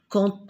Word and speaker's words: quand: Si on apporte son aide aux autres, on recevra de l'aide en retour quand on en aura besoin. Regardez ici, il y a la lettre D, mais je prononce la lettre T quand on aura.